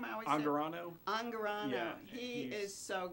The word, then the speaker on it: Angarano: I always Angarano.